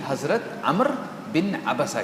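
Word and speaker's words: عمرو: लेकिन हकीकत में इसका तलफुज़ है अरबी में अम्र। तो अरबी में जो नाम है अम्र ये एक बहुत कॉमन नाम है अरबी में। इस अम्र के हिज्जे अगर अरबी में लिखे जाए तो वो ऐ मीम रे वा बनते हैं जो आपको यहां पे नज़र आ रहे हैं।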